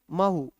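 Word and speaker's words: Mhow: होता है Chambal originate from a place near मह नहीं मह मह म नहीं है म उत्तर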